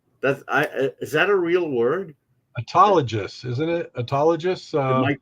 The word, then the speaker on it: autologous: It reminds me of analogous, of course, which is why I use the hard G, but maybe it is a soft G.